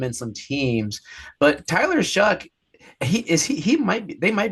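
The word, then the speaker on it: Shough: How do you say his name? Oh, Shuck. I think it's Shuck. Tyler Shuck there. Yeah, you're right. Shuck.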